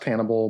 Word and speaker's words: HNBL: three or four letters so it's just hnbl uh pronounced cannibal but not to the